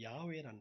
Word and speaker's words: 야훼: 근데 이제 후대에 유대인들과 뭐 그리스도교 학자들이 계속 하나님의 이름을 발음하는 것을 찾았어요. 그래서 지금 세계적으로 제일 많이 부르는 단어가 뭐냐면 야훼라는 단어입니다.